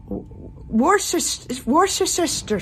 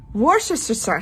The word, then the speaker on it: Worcestershire: is the same one as yours, which is Worcestershire sauce. No, Worcestershire sauce.